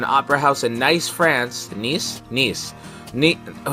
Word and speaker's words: Nice: theater municipal an opera house in nice france nice nice neat oh it's spelt nice though i didn't know that uh